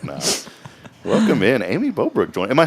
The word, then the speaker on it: Bobruk: Welcome in, Aimee Bobruk.